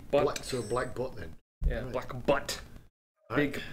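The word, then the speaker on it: Black Butte: b t t e you don't pronounce the e but so black but then yeah black butt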